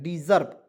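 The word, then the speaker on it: deserve: डिजर्व पढ़ा जाता है डिजर्व ठीक है डिजर्व पढ़ा जाता है ठीक है डिजर्व गलती से नहीं पढ़िए डिजर्व यहां पे इस का उच्चारण ज के रूप में हो जाएगा ठीक है चलिए इसका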